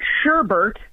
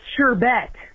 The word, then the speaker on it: sherbet: And then we seen another one where she said, it's not sherbert, it's sherbet. You don't pronounce the other R in sherbert.